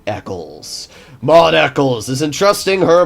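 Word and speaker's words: Eccles: pronounce Mod's name mod echles echoles there's a bunch of different YouTube pronunciations out there we're calling her name Eckles mod Eckles is entrusting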